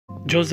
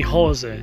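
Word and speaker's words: José: Everybody says my name wrong. Everybody calls me Jose. I'm not Jose, I'm Jose." Mourinho puts emphasis on hard pronunciation of his name. He clearly does not like the Spanish pronunciation of his name, calling him Jose, but he wants everybody to call him Jose.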